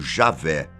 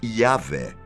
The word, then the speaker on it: YHWH: Não confunda com o tetragrama sagrado, aquele conjunto de 4 letras, YHWH, normalmente pronunciado como Javé ou Yahvé, e é usado para representar o nome de Deus no Antigo Testamento.